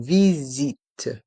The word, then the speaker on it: visite: une visite guidée ici dans le mot visite le S encore et entre les voyelles i donc se prononce ze une visite guidé dans le mot